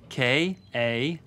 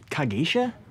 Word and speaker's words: Kagemusha: K-A-G-E-M-U-S-H-A. Kagesha? No, Kagemusha. Come again. Kagemusha. It's Japanese.